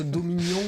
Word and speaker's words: Dominion: faire critique sur bah est-ce qu'on dit skijo ou sky ou est-ce que qui est dans le chat il peut faire un sondage pour savoir si les gens prononcent domignon et tu l'écris comme oignon ou domignonne pauvre Johan c'est parce que ça c'est comme ça on pourrait presque le faire go bon il est partant il va faire prononcez-vous dominion ou de mignonn Oui, Dominignon.